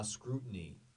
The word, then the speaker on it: scrutiny: The T, like we've talked about before, basically disappears. Scrutiny, scrutiny, scrutiny, scrutiny.